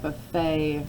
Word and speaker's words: buffet: senator this is a buffet right here it's an oddball because that et comes from a French pronunciation where it says a is we've got buffet okay can you have